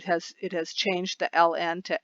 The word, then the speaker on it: ln: I do Ln and I sometimes pronounced that lon or I said Ln the natural logarithm and on your